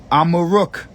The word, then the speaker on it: Amaruk: Amaruk is how you say Morocco in the Berber language.